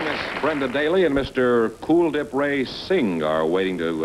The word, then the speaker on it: Kuldhip: day Brendon daily and cool dip racing is that is that the way you pronounce it cool dip yes it is uh like the word cool yeah well I had